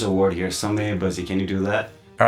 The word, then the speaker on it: Samay Baji: And in Newari language, we call it Samay Baji.